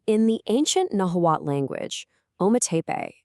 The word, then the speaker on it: Ometepe: Well, today we're diving into Ometepe, a place where two incredible mountains tell one epic story. So in the ancient Nahuatl language, Ometepe, and you say it like Ome-te-pe, it literally means two mountains.